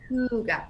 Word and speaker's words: Hygge: it's Hygge, but it's pronounced Hygge, like Hue, like Hygge.